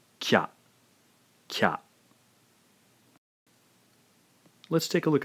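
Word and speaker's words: きゃ: together, blend them together, the ya sound sort of kicks out the vowel sound from the previous syllable. Therefore, the E sound in ki has been taken over by the ya. Pronouncing this then, we have a single syllable now, not two syllables. This is kya, kya.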